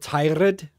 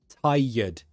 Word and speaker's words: tired: where he's from um noticed the way he said tired tired when you are you are tired tired tired not tirade tired yet tired thank you so